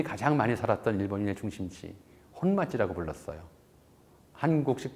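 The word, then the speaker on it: 本町: 일본인이 가장 많이 살았던 일본인의 중심지, 혼마지라고 불렀어요. 한국식 발음으로 하면 본정이죠.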